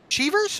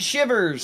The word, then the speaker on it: Shivers: Is that Cheevers, or how would you pronounce his last name? I apologize to everybody. It's Shivers.